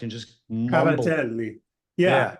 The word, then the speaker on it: cavatelli: But when an Italian guy, screws it up, like Gabardelles is Cavatelli, that they've just taken in dialect and just mumbled. Cavatelli.